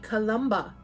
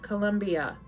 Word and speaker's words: Columba: patron scene of witchcraft saint columba not colombia columba of riti there